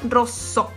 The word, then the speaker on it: rosso: Fíjate que tiene una doble S acá. Entonces, cuando hay una doble consonante, yo tardo un cachito más en pronunciarla, ¿sí? Rosso, no es rosso. Si yo me acerco a un italiano y le digo, ¿color de rosso? No me va a entender. Es rosso, ¿sí?